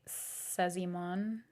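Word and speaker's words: Szymon: come back home by no idea how to pronounce this s z y m o n kind of looks like Simon Simon come back home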